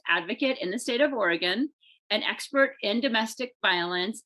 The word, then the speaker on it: Oregon: i saying it right you are yes okay oregon thank you for joining us today julie and